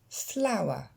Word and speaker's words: flower: Flower. Et là, vous allez noter que le ER se prononce comme un simple E. Je vous l'ai mis à côté en phonétique bâtarde.